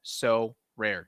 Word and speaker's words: Sorare: It's called So Rare, 2 syllables.